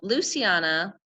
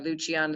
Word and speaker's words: Luciana: There's an important dynamic that comes up between Luciana, or Luciana, depending on how you pronounce it, and Adriana.